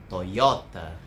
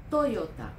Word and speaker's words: Toyota: Toyota. Toyota。 Honda. Honda。 Suzuki. Suzuki。 Então, nós temos uma clara tendência a acentuar a penúltima sílaba, né, das palavras de origem japonesa.